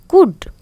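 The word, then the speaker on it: could: गुड, तो एल।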